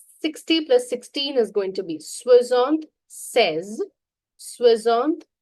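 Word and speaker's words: soixante-seize: Swizzant says now remember here if you write swizzon sees pronunciation remember if you write swizzon sees it becomes 66 but if you write swizzon says it becomes 76.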